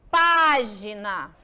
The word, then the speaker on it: página: para a próxima Oi leia a palavra página eu faço questão de pronunciá-la para que você se identifique página olha só para página ela fica onde ela fica na última na penúltima ou antepenúltima lembra a história do degrauzinho